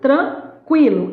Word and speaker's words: tranquilo: Não, você fala, tá tudo tranquilo. Esse U é ou não é pronunciado, ó? Esse U, ó, esse U é pronunciado.